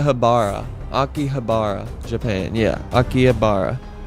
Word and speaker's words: Akihabara: are you talking about um how is it pronounced aara aara is what it's called aara AIA habara akih habara Japan yeah Akihabara it's the T it's got all kinds of